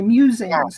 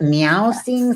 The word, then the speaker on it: Mewsings: is really just kind of my meanderings, my musings, and it's called Musings, MEWSINGS, because I love cats. I was like, is it meow sings?